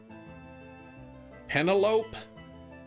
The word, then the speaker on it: Penelope: Her name is actually Penelope, but it's pronounced like cantaloupe. Penalope.